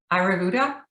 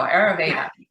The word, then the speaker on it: Ayurveda: the indian uh cookie ayurvuda how do you say that there you go ayurveda the the most important